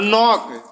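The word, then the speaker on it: knock: के साइलेंट है और नॉक के एन ओ सी के नॉक में के साइलेंट नाइट के एन आई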